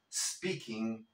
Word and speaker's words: speaking: am speaking English Now tenemos el problema de esa e fantasma recuérdalo no vamos a decir I am speaking no vamos a transportar la última letra de la palabra anterior y la vamos a pegar a esa s para eliminar ese sonido de E I am speaking I